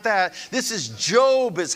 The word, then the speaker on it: Job: And again, this is not Steve Jobs. It's not that. This is Job is how we pronounce it.